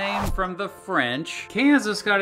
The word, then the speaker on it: Kansas: Kansas! And those English speakers pronounce the S at the end of words, by golly.